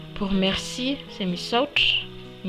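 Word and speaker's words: misaotra: Pour merci, c'est misouch. Misouch qui s'écrit comme ceci.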